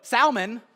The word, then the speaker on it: Salmon: pronounce it I guess we pronounce it with a silent L except for the name Salman all right so Salman is is Boaz his